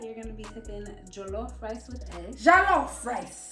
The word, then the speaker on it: jollof: This is Nigerian jollof rice.